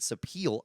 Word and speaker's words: sapele: This guitar has a solid Sitka spruce top, layered sapele, I looked that up, that's how you say it, back and sides, and a maple neck and ebony fretboard.